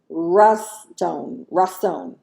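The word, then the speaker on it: רצון: Let's try that again. Raston. The phonics on that is RAW-TSONE.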